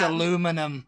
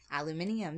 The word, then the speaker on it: aluminium: i in the end you're putting an extra i in the end of the word and then she found